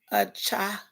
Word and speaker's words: Cachette: So the pronunciation of my name is a cha. So the C is silent.